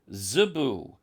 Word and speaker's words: Zebu: Then we have an alternative spelling and pronunciation for Cebu as Zebu, Z-E-B-U. Now that also fits the Hebrew, which renders the word with a sad, T-S, at the beginning for a Z sound even.